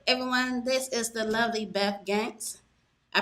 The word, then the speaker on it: Beth Gantz: This is the lovely Beth Gantz. I pronounce it right, or did I butcher it again? It's a Beth Gantz. Okay, Beth Gantz.